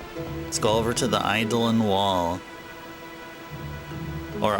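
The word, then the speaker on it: Eidolon: All right, let's go over to the Idol and wall or Idolon. That's how you're supposed to pronounce it. Idolon. I've been saying it. I've been seeing it as idol and it's probably actually Idolon.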